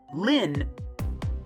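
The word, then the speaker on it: Lynne: This is how you pronounce her name. Okay, let me see. Uh, Lynn. Lynn. Okay, it's a Lynn. That's a weird way to spell it. No more lean rip.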